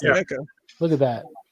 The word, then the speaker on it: NECA: Is it NECA or whatever how you pronounce their names? Yeah, it's NECA.